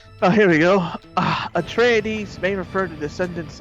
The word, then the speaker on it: Atreides: go a tradis a traitor that's how you pronounce it a tr a treadies atreides okay there you go if it's greek if